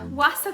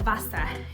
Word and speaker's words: Wasa: you know we have these Wasa crackers I think they pronounce it Vasa in Deutsch um but we sell